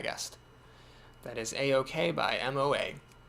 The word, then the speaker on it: moi: That is A-OK by MOA. MOA stands for moi. That's how the French say me.